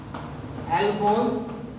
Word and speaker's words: Alphonse: Alphonse P is silent here.